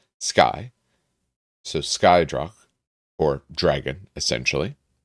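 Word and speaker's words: Scoth: So, uh, apparently S C O T H is pronounced sky.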